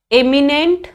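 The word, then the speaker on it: eminent: 3 words हैं, एमिनेंट, इमिनेंट और इमेनेंट।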